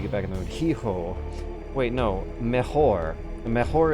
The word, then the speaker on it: hijo: Don't pronounce the H. H is silent. Okay, mejor, no, hijo. How in the world is the H silent in hijo?